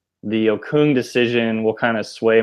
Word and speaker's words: Okung: Okung.